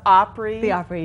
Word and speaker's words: Opry: grand old opry yes is that how it's pronounced opry yes so what happens there